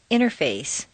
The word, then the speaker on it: interface: the button exercise 47 rule five the silent t t and N are so close in the mouth that the T can simply disappear repeat one interview two interface three internet four Interstate